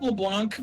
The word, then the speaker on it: Leblanc: a long time ago i pronounced it leblanc because like seeing a c and then not making a c sound hurts me it's french it gives me physical pain to not say a c that i see like demetrius and demetreska